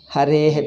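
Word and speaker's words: हरेः: How do you pronounce it? Harehe. Because after A is Visarga is coming.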